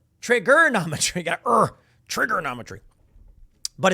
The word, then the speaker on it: Triggernometry: They have accents, and so they say ERs like A's, so all they're saying is trigonometry, and that's literally how you say it.